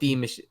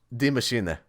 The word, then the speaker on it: Die Maschine: Pronounce it properly for me. What? Der Eisendrache? No, Die Machine. It's not Die Machine. Die Maschine.